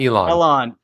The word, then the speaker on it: Elon: pronounce ellen ellen musk you called it ellen moss not elon berserker called you out